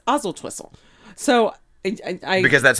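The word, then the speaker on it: Oswaldtwistle: lives in is called oswaltwhistle right i hate him and then once you learn how to pronounce oswalt's whistle you have to drop the w and it's ozil twistle so because that's how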